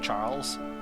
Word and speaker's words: XUJHAN: Like I go by Charles, or XUJHAN, which is pronounced Charles, but it only takes 5 minutes of Googling to figure out who I am in real life.